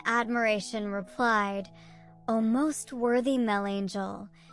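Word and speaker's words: Melangell: replied oh most worthy Mel Angel which is the way the Welsh pronounce monacella because on account of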